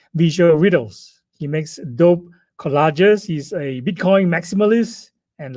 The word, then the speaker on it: Collage: next guest his name is the college collage that's the right pronunciation for it he uses collage to talk